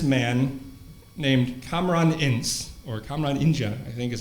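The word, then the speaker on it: Kamran İnce: I studied with this man named Kamran Ince, or Kamran Ince, I think is how it's actually pronounced.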